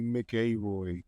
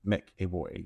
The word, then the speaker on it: McAvoy: I mean, looking at the spelling, it would be McAvoy. McAvoy, yeah. Technically. Plus he's Scottish too, so it sounds more Scottish when you say it like that versus but American pronouncing it McAvoy.